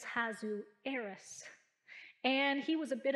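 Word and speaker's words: Ahasuerus: i'm referring to and i did look up the pronunciation on this name is hazu heiress and he was a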